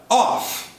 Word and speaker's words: off: E agora sim, seu som final é F. E essa é a grande diferença de pronúncia da preposição of, que a gente viu lá atrás. E essa agora, off.